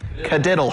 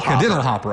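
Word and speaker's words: Kadiddlehopper: What was that pronounced again? Cadiddlehopper. Cadiddlehopper.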